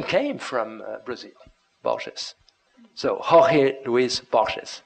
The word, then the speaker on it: Borges: obvious insisted in happiness name pronounced Borges by the way the Portuguese way and not the Spanish way because he explained to